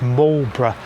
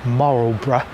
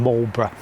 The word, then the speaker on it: Marlborough: Now, the name of the town is pronounced Marlborough, not Moral Borough.